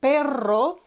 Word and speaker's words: perro: single or double are for example perro has Double R and you need to roll it more to distinguish it from simply Peril